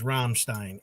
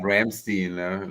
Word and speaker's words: Rammstein: I appreciate you saying Rammstein too, and not Ramstein, like a lot of people do sometimes.